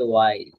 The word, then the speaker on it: why: হোয়াই সব জায়গায় কয়, কিন্তু শুদ্ধ উচ্চারণ হবে ওয়াই।